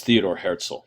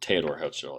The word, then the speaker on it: Theodor Herzl: the state of Israel, is Theodor Herzl, or Theodor Herzl, actually, is a better pronunciation of that.